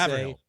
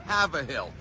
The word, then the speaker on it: Haverhill: Now, if you were to see a town, I think it's in the suburbs of Boston, Haver space Hill, I would say Haverhill.